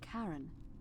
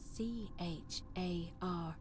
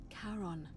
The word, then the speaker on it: Charon: The name you heard wasn't Karen. It was C-H-A-R-O-N, as in Charon, the ferryman of the dead.